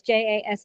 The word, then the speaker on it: Jaspr: So Jaspr, which is Jaspr, not spelled like you Yes.